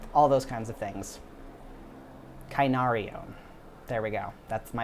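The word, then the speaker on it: κυνάριον: the root of it, for little dog is kunarion. Kunarion. And so the sort of the way that he uses it, yeah, is very specifically a small dog, little dog, puppy, all those kinds of things. Kainarion.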